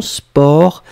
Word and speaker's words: sport: Faites attention, sport, on écrit S-P-O-R-T. Hein, on ne prononce pas le T, mais on écrit quand même.